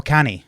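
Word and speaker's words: cannae: like can I like how do you say that c a n n a e is that considered Scotts what are you oh canny yes yes yeah yeah that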